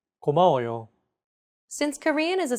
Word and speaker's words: 고마워요: Each syllable is pronounced for an equal amount of time. 고마워요.